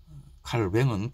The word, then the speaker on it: 칼뱅: 여왕 마고 그런 영화 꼭 보시고 종교개혁이 어떤 영향력을 끼쳤는지 르네상스가 일어나고 산업혁명이 일어나고 칼빈의 사상 칼뱅은 프랑스어고 칼빈은 영어식 발음이죠.